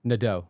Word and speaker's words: Nadeau: How do you say Nadeau? Nadeau. Nadeau. Yeah. All no right. nay, just nah.